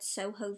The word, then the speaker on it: SOJOS: of reviews to see how other people pronounce the brand name, and they've actually said Soho Vision, which makes a lot of sense. So maybe I'm just illiterate and I pronounced it wrong, but I called it SOJOS Vision.